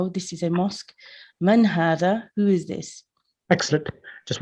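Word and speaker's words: هذا: So note number 1, hadha is pronounced hadha, but it is written without the first alif.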